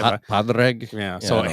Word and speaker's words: Padraig: My good is this how Predrag? Is how you pronounce his name? Predrag Harrington? I think so. Is that he looks like Right. that? Padraig.